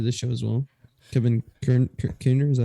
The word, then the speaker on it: Kiner: Kevin Kiner, is that how you pronounce it? oh yes, Kevin Kiner is coming back to do the score. That is correct, Kevin which is Kiner- exciting.